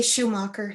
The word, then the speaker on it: Schumacher: Which way do you pronounce it? I say Schumacher.